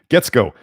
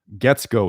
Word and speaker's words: Guetzkow: Getsko. I asked him his name multiple times so I can make sure to pronounce it right. Josh, Josh. Obviously, that's how you spell Josh. Getsko, his last name, Guetzkow.